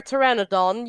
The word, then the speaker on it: Pteranodon: you never hear a Pteranodon urinate no idea because the p is silent dull you how come